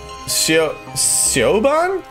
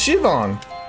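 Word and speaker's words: Siobhan: Sioban? Sioban! It's pronounced Shivan!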